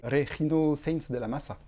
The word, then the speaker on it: Regino Sainz de la Maza: et orchestre, des solos de Robert Devizet et Regino Sainz de la Massa. Je prononce bien, c'est bon.